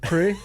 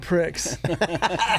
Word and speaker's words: Prix: But at least you learned how to pronounce a French word. pre. Yeah, cuz it's really said ma math grand pricks, right?